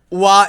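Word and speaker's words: は: বাক্যে ব্যবহার হলে ওয়া, শব্দে ব্যবহার হলে হা।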